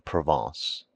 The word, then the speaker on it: Provence: He became subservient to the French element and his wife's relatives from Provence, pronounced Proven.